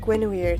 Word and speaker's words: Guinevere: Oh yeah, it's Genevieve and Guinevere. That's how it is pronounced.